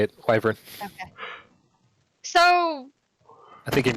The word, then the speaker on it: wyvern: That's how you say it, wyvern.